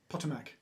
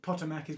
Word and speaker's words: Potomac: she's now saying that your pronunciation of pottermak is right potomac potomac the americans might pronounce it differently to how the brits well i'm as it's their station i think we should go with the american pronunciation our language wow